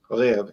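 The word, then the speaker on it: Rêve: And that beer that Drunken One's going to have is pronounced Lev. It means dream. Yikes. Lev. All right. Lev, it starts with an R.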